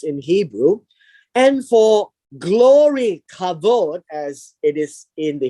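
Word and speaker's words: כָּבוֹד: just for interest sake the word glory glory is pronounced as kavod glory would be very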